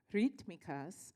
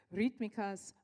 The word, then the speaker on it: Rítmicas: of concerts and interviews rikas and I practiced that and I told Melvis she said you have to roll your RS I said only if